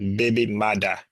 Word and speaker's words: baby mother: Creo look at this the term originated in Jamaican Creo as a baby mother pronounced baby Mada with the first printed